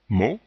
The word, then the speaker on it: mot: Ici, le T n'est pas prononcé, le O est le dernier son du mot ou de la syllabe, on dit bien mot.